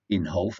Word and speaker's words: Inhofe: on Republican Jim Inhofe it's called in half I did check the pronunciation that's what they said it was Jim Inhofe dumped up